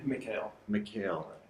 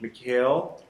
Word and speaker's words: Mikhail: Mikhail. Mikhail. For some reason, I'm having troubles writing that down phonetically, so I'll get it.